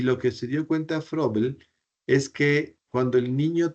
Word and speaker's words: Froebel: a un pedag de apellido frel se escribe froebel sí frel frel hace se inventa